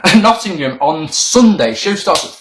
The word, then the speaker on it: Nottingham: area Nottingham don't say Nottingham sound like a child Nottingham make sure you pronounce the G Nottingham on Sunday show starts